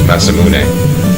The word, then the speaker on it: Masamune: in the forums before, normally I would pronounce it properly, which is Masamune, but because it's got a little bit of a typographic abbreviation in this game, I'll call it Mass Moon.